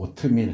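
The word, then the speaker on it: אות: 대요 표징은 뭐냐 하면 히브리어로 트라고 하는 뭐 오트밀 할 때하고 발음이 똑같아요 오트 오트밀은 길이지만 이 히브리어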